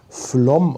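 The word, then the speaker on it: Flåm: Also der erste Stopp, der wird Flom sein. Ich habe ja gelernt, das spricht man Flom aus, das A mit diesem Kringel da drüber.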